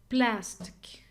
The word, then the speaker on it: plastic: me a plastic knife plastic so I think it's the first one because pla stick hear the e sound is so weak so